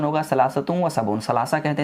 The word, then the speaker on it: ثلاثة وسبعون: 73 का अरबिक में प्रोनाउंसिएशन होगा सलासतुम व सबऊन।